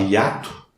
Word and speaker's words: hiato: A própria palavra hiato apresenta um hiato. O I fica em sílaba diferente do A, e o H não conta. Detalhe, o H em português não tem valor fonético, Por isso ele nunca conta.